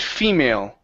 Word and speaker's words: female: word female okay so when you're pronouncing this this L okay you need to bring your tongue more forward in the mouth uh if not you're saying female okay and it's a and your tongue is back further in your